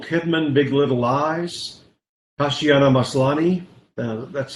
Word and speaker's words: Maslany: The Crown, Nicole Kidman, Big Little Lies, Tatiana Maslany, that's how you say it, Kiefer, Orphan Black, Elizabeth Moss, The Handmaid's Tale, Elizabeth Moss, Mad Men, and Kerry Russell, The Americans.